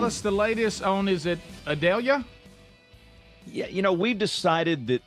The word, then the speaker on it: Idalia: James Spann tell us the latest owners at Adelia you know we've decided that the pronunciation we believe is correct it's idalia Dallas like Dallas okay a lot of weeping